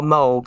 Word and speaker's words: Moog: And she was a electronic music pioneer, because she helped Robert Moog, or Moog. Some people say Moog. But it's spelled M-O-O-G.